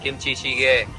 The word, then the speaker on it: kimchi jjigae: here is from Jeju black Pig This is Kimchi jjigae : I pronounced it correctly? : Yes, Kimchi jjigae Kimchi stew with pork This is the most